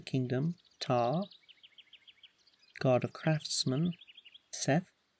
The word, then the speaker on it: Seth: Osiris, god of the Nile; Ra, god of the kingdom; Ta, god of craftsmen; Seth, I think that's actually pronounced Set, god of destruction; Bast, goddess of the home.